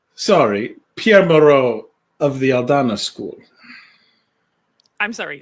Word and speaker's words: Aldana: Pierre Maro of the Aldana school. I'm sorry. Spell that.